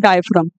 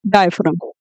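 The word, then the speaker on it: diaphragm: हम क्या बोलते हैं, डायफ्राम। क्या बोला जाता है इसे, डायफ्राम। और डायफ्राम के अंदर वो जी साइलेंट है, ठीक है।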